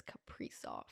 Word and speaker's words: Kaprizov: Some people say Kaprizov, some people say Kaprizov. I think I was watching highlights because I wanted to make sure, and it's Kaprizov. Kaprizov.